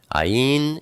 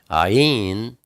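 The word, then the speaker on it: עין: Ayin is the number 70. It's pronounced, it's a guttural kind of a G. Or sometimes it's pronounced ah, like Abba. And sometimes it's pronounced like a Y, like Yahshua.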